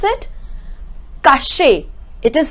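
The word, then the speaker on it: cacher: Okay, now this one, how we are going to pronounce it? Caché.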